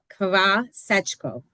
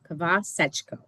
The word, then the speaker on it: Khvasechko: So it's Khvasechko. Khvasechko.